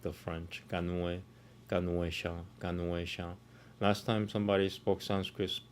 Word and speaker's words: Ganesha: Anyway, it's Ganuesha. Om Shri Ganueshaya Namaha. Om Shri Ganueshaya Namaha. Sounds about right. Yeah. Om Shri Ganueshaya Namaha. Om Shri Ganueshaya Namaha. Ganuesha. Not Gane. Gane is spelled. Gane is different.